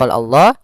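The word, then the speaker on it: الله: hukum tajwidnya di sini pada laf Allah ada laul jalalah kita namakan dengan Jal itu la Allah itu untuk huruf lamnya tebal tip allah ya maanya tipis Allahnya tebal maka dia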